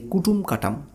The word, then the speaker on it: কাটুম কুটুম: বেশ, আসুন এবারে আমরা যদি চলে যাই যে কুটুম কাটাম, তাহলে আমরা জানি যে অবনীন্দ্রনাথ ঠাকুরের একটি শিল্প সৃষ্টি আছে যার নাম হচ্ছে কাটুম কুটুম।